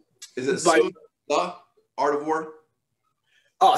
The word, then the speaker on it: Sun Tzu: Did I pronounce it right? Is it Sun Tzu, Art of War? Oh, Sun Tzu.